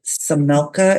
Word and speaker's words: Samelka: This is the state's motion to strike the expert witness, I believe it's Dr. Richard Samelka is how you pronounce his last name.